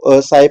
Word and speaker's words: psi: ये जो साइन है इसको psi पढ़ते हैं, पी एस आई, ठीक है, पी साइलेंट है, psi p.